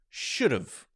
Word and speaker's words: should've: so that would be s-h-o-u-l-d apostrophe v-e that's pronounced should've so if you listen to that carefully should